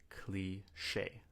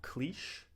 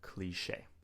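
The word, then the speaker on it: cliché: But for those of you who do not speak French, we pronounce it cliche. Not cliche, but cliche.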